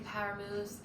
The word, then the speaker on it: PWR! Moves: If you are new to power moves, it's spelled PWR and they stand for Parkinson's Wellness Recovery.